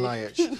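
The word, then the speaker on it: Ljajić: Delio Rossi, the man everyone remembers as the guy who hit the Fiorentina player, Adam do you pronounce it for Adam me? Ljajic.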